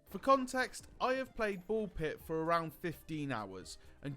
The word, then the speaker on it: BALL x PIT: Before you come at me, yes, it is Bull Pit. We don't pronounce the X. We don't say cross. It is Bull Pit.